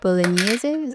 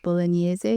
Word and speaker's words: Bolognese: It does seem like in Italian it's called bolognese. You pronounce the E at the end.